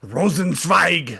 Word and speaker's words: Rosenzweig: I always want to say it like it's German, like Rosenzweig. That's how I want to say it, but that's I believe that's how it's supposed to be.